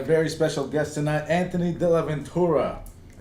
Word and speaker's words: Dellaventura: special guest tonight anthony de la ventura i said it right right yeah all right cool dela ventura of the adventure in spanish which is awesome so